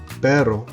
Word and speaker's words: perro: because you have perro and then you have el perro. Alright, so perro is more of a D sound, whereas perro is a trilled R.